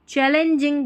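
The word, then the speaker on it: challenging: यहाँ पर ALL है, इसको ऑल नहीं पढ़ना है, चे ऑल, थोड़ा सा उच्चारण भी आपको देखना है, चौल नहीं बनता है, चैल एंजिंग, चैलेंजिंग बनता है, यानी कि चुनौतीपूर्ण, चैलेंजिंग।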